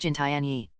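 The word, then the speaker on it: 金田一: In the Chinese rendition of the name, Kindaichi is pronounced Jintianyi.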